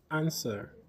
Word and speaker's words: answer: Answer, answer with a silent W.